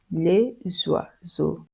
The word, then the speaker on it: les oiseaux: You pronounce S and X like Z.